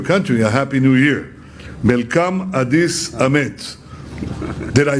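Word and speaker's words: መልካም አዲስ ዓመት: Melkam Adis Amet.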